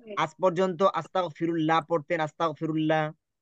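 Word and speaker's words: أستغفر الله: মত হবে ল হবে তার মানে কি হবে আস্তাগফিরুল্লাহ আস্তাগফিরুল্লাহ আচ্ছা এই ফিরুল্লাহ হবে না না আস্তাগফিরুল্লাহ হবে কোনটা হবে আচ্ছা এখানে কে কে আজ পর্যন্ত আস্তাগফিরুল্লাহ পড়তেন আস্তাগফিরুল্লাহ কে কে জি ওস্তাদ আমিও পড়ছি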